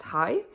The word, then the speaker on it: Harry: In English it would be Harry, but in Danish that name is pronounced Hi.